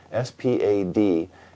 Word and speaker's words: SPAD: S-P-A-D is actually an acronym for the name of the company in French, but everybody pronounces it SPAD.